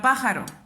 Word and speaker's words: pájaro: acentuar siguiente palabra pájaro donde se eleva más mi voz al pronunciar la palabra pájaro pájaro me doy cuenta que es en el pan entonces última sílaba ese es rock penúltima sílaba es ja y ante penúltima sílaba